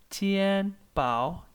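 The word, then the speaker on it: 钱包: The pronunciation is tian pao, tian pao.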